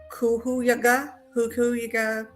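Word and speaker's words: Cuyahoga: a County Medical Examiner it's CU y a h o g a so kuua Hua I think that's how you say it County Medical Examiner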